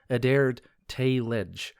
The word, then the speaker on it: Edér Teylecg: However, the e y is pronounced kind of like wraith a and then the cg is a j sound like in bridge. So ad tled is how I'm pronouncing it.